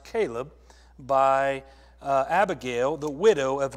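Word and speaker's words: Chileab: And his second, it's actually pronounced Caleb, by Abigail, the widow of Nabal the Carmelite.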